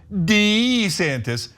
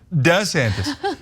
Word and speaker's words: DeSantis: He's demanding that people call him Dee-Santis rather than DeSantis.